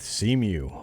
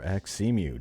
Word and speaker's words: xemu: Xbox emulation on windows with cemu or xemu depending on how you want to pronounce that version 0.7.71 has